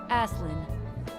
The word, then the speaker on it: Asen: Asen. That's my name. That's how you spell. That doesn't look like how it's pronounced. Asin.